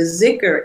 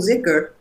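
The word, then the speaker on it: dhikr: And the zikr is a formulaic kind of, can be very simple, can be very, very elaborate and very beautiful.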